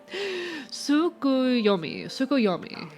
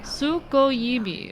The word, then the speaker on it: Tsukuyomi: Oh god, I am not gonna fucking pronounce this right. Tsukuyomi, and placed inside the moon cave. The villagers all looked forward to an age of endless peace. I think you got it, I hope so. Tsukuyomi.